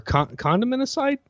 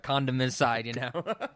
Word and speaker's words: condimenticide: lots of genocide, or condimenticide. I don't. Ooh, I like condimenticide. You have to pronounce the T, otherwise it sounds like we're condom side or whatever, condomicide.